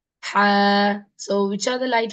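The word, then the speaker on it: ح: But is it the real pronunciation? Ha, ha. No. The real pronunciation is from the throat. The throat. Imagine this is your throat. Okay. And this middle part of your throat, here the letter ha is pronounced. And the ha should come from inside the middle part.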